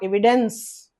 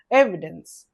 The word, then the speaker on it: evidence: but not like that first syllable should be stressed evidence second syllable should be in a lower pitch and it's a noun.